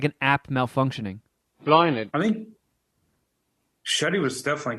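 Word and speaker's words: Blathnaid: no r all right here's how you pronounce b-l-a-t-h-n-i-n-a-i-d apologies blinded blah means flower blossom in Legend blinded the reluctant wife of curly mcdaira love cocoon her husband's rival so blinded blinded blinded blinded it sounds like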